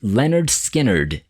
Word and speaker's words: Lynyrd Skynyrd: to spare number one pronounced Leonard Skynyrd 1973.